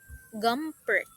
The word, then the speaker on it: Gumpert: Yes, Gumpert nata na siya. How to pronounce that?